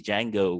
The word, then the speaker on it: Django: it's kind of like in the movie django when he says the d is silent right in this case the